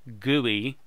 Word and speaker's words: GUI: this case the average a GUI graphical user interface pronounced gooey will pop up that